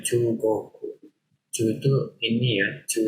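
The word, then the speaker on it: 中国: Chogoku bahasa Cina. Bahasa Cina ya. Cina. Itu bacanya Chugoku.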